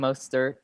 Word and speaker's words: Mostert: You nailed the OE vowel combo, which can be a little intimidating.